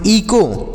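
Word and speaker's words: echo: मात्रा, तो इसे पढ़ेंगे ई को, इसे ईचो नहीं ई को पढ़ेंगे, यच साइलेंट है।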